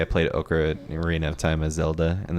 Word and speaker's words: Ocarina: I know, it's like my favorite's Orcana of Time. Orcana. Like, Oh god. like Link's an orc. Oh God. Modded. Yeah, well, with that you hear Ocarina, and all kinds of different pronunciations, but I haven't heard that one.